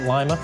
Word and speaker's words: Lima: A little thunder with the lightning here as we head through this morning around Lima, like the bean. That's how you say it, Lima, bean, Ohio, Lima.